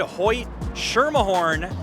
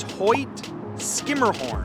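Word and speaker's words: Hoyt–Schermerhorn: how would you say it if you said Hoy sherah horn you would be incorrect the proper pronunciation is Hoy skimmerhorn and I have even messed that up on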